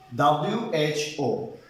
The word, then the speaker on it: who: followed by vocal o the letter w will be silent in that word for example w-h-o who was silent w-h-o-s-e